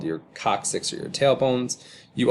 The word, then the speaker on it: coccyx: never had to say this word before it's pronounced coccyx which is your telephone these things are called